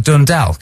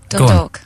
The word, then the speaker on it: Dundalk: You were born in Dundalk in Ireland. Is that how you pronounce it? No, Dundalk.